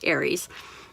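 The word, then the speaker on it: Ares: Yes, it is Aries. And, you know, it's spelled different than the zodiac sign, but it's pronounced the same.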